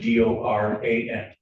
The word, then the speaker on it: Doran: spelling on the last name is D O R A N. And it's pronounced Doran.